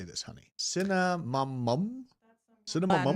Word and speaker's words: Cinnamomum: Cinnamomum?